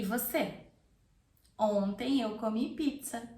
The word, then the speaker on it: ontem: Ontem. Ontem. It's very nasal. Tem. Ontem. Ontem. Ontem eu comi pizza. E você? Ontem eu comi pizza. E você? Ontem eu comi pizza.